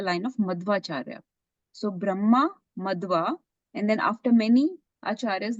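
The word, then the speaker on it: Madhva: G sorry yeah so you have to say it correctly Brahma madwa not madav madwa because it's Madara Brahma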